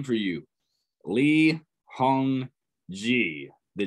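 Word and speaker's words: 이홍기: Lee Hong Ji. The G in G is pronounced like G in go. So Lee Hong Ji.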